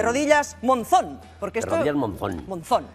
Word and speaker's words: Monzón: el título a ver Bueno aquí sería monsó Pero es Monzón de rodillas Monzón porque esto rodillas Monzón Monzón Y eso por